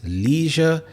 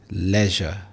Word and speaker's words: leisure: In American English, people may pronounce this as leisure, but in British English, it is leisure.